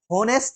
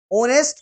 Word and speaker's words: honest: है, होनेस्ट नहीं है, होनेस्ट नहीं है। ओनेस्ट को ऐसे HONEST को ओनेस्ट बोला जाता है। यहां पर एच साइलेंट है और यहां पर जो आपका प्रोनाउंसिएशन है वो ओनेस्ट ओ से आ रहा है।